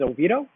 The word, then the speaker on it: Oviedo: back in the early 1900's it was actually pronounced oviya dope but now we know it as Oviedo and we do have a sister city in